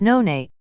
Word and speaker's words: noni: asia especially in polynesia noni pronounced none is a lumpy mango-sized